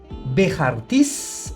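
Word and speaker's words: בכרטיס: Y luego la palabra tarjeta que pierde el sonido de la CAF y pasa a ser jaf, diríamos bejartis.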